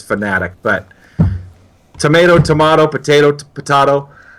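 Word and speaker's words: Fanatec: ago I asked him how do you pronounce it is it fitech or fanatic and he specifically said it's fanatic but tomato tomato potato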